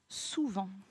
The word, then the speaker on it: souvent: Attention, la difficulté dans souvent, comment écrire le son en? Il s'écrit E-N. Et attention, on a à la fin une lettre muette qui est un T.